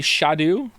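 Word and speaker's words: Scadu: me did you know apparently scat is pronounced Shadow uh why didn't they spell it like Shadow then how you getting Shadow from scat it's meant to be shadu it's never not entertaining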